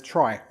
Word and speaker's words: trie: two years later by edward fredkin who pronounced it as trees we said because the middle syllable of retrieval however other authors pronounce it as try as we said in an attempt to distinguish it verbally from tree I'm going to stick